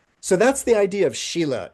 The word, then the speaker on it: Sīla: So there does seem to be some relationship here, which is maybe why some people pronounce it Shilla, that it has this relationship with like sharpening a knife, improving its character, honing might be a word.